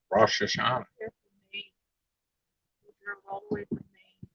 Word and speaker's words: Rosh Hashanah: It was something like it was right Reuters too, but I've always heard it pronounced Rosh Hashanah.